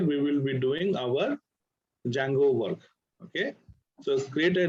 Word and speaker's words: Django: just to detangle okay spelling is django we call it a django d is silent sometimes people write these